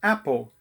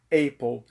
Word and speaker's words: Apple: a popular e Cobiçada marca da massa mordida se chama a pow Mas eu ainda vejo muita gente que insiste em falar Apple nem todo ano em inglês é pronunciado ei Então se um desses produtos